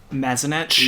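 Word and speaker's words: Mazanec: In exchange for Mark Mazanek, is that how you pronounce it? Mazanek?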